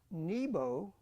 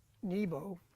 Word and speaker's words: Nebo: god of fire uh Nebo is really pronounced Neo with a v uh Neo Neo means